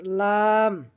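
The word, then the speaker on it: لام: এরপর লাম, লাম, লাম আমরা যেভাবে উচ্চারণ করব, জিহ্বার আগার কিনারা সামনের উপরের দাঁতের গোড়ার সঙ্গে লাগাইয়া লাম, লাম।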